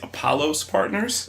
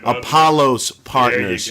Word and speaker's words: Apollos Partners: talk to you it's exciting we'll say it's Apollo's partners please call us tomato tomahto that's not it Apollo's partners you heard it our listeners are very clear